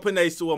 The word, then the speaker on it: Penei Sewell: let the day go by without talking about pine soul my favorite prospect yes i said his name